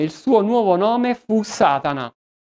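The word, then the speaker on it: שָׂטָן: Da quel momento Lucifero cambiò nome, il suo nuovo nome fu Satana, che nella lingua ebraica si pronuncia Satan, che significa avversario, nemico,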